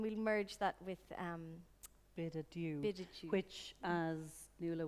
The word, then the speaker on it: adieu: and then it says, pronounced by Mr. Joyce, adieu. Yeah, So just so you know. French with a bad accent.